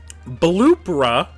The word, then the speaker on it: Bloopra: Bloopra like Oprah but moist and vibrating. Reetta, elegant, poised, still kind of slimy. Bloopra. Here's the thing. It's spelled like bloop. Bloopra is how that's spelled, which is just oh with an H at the end. Like you like you combined Bloop and Oprah.